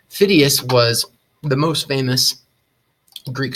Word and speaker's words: Phidias: That's how you pronounce that man's name, Phidias. Phidias was the most famous Greek sculptor.